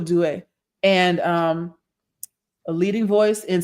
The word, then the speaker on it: Due: I want to make sure you get the pronunciation down. Or it could be Do or Due.